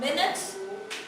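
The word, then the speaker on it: minutes: हाणे hours, मिनट्स, हाणे के वरी हिनजी प्रोनाउंसिएशन थोड़ी गलत कंदा आहिनि स्टूडेंट्स, वरी मिंट्स चई छॾींदा। मिंट जेकी हूंदो आहे न उहो फूदनो हूंदो आहे, मिंट हिकिड़ी डिफरेंट शइ आहे ऐं ही मिनट आहे, इनखे मिनट पढ़ंदासीं, मिनट्स पढ़ंदासीं असीं, ठीकु आहे।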